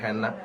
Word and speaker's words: henna: মূলত মেহেদি একটা বাংলা নাম, তো মেহেদির আসলে ইংরেজি নামটাই হচ্ছে হেনা। এটা আসলে উচ্চারণটা হেনা হয়, বাট যখন আপনি এটা লিখবেন তখন আসলে স্পেলিং করলে এটা হয়ে যায় হেন্না।